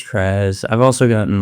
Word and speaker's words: Krazz: Has anyone ever like said like, "Oh, yo, that's crazy," instead of like Krazz, because like the two Z's?